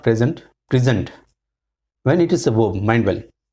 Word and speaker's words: present: Give more air or breath or emphasis on the second. And in the noun, you will put on the first syllable.